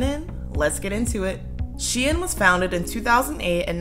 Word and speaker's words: SHEIN: So it is pronounced SHEIN.